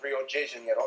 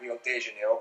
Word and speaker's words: Rio de Janeiro: that's right it's pronounced rio de janeiro not rio de janeiro get it right we're not in mexico this is portuguese not spanish this was done in